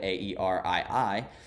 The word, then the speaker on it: Aerii: that word, and I found the word Aerii, but it's spelled Airy.